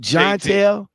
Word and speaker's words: Johntell: that uh john john am i pronouncing your name right john tale you say it right but how